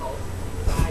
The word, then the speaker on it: ทราย: นะ ครับ ู เขา ทราย แดง ครับ ทราย พ นี้ ครับ พ ร เรือ นะ แต่ เรา ไม่ ออก เสียง รอ เรือ นะ ไม่ ใช่ ภู เขา